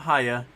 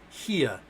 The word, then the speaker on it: Hia: Hia, not Haya, Hia, like Kia.